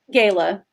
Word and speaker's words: Gayla: Gayla. Gayla. Okay. I didn't want to mispronounce her name. I was going to call her Gail and then would have been totally wrong.